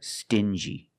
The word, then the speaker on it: stingy: These two words have the regular n sound, plus the j, like juice. Together, stin-g. Together, stingy. Or din-g.